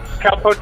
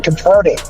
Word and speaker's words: Capote: What does he think Cowpote is going to do?